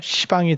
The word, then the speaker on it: 시방: 그러면 그 10방이라고 하는 거를 이제 계속 우리 발음으로 10방 10방 하면 결국 비읍이 겹치면서 시방이 되죠. 시방이. 그래서 그냥 시방이라고 쓰고, 그러니까 쓸 때는 10방이라고 쓰고, 10십자를 써서 10방이라고 쓰고, 10개의 방이, 그러니까 모든 공간적인 모든이라는 의미예요. 그래서 10방이라고 쓰고, 읽을 때는 시방, 시방이라고 읽고 이렇게 되죠.